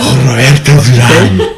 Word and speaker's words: Roberto Duran: Roberto Duran? Roberto Duran. You fucking said it right.